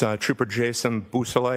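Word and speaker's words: Beausoleil: Could you say that name again and spell it for us? Yes sir. It's uh trooper Jason Busousel.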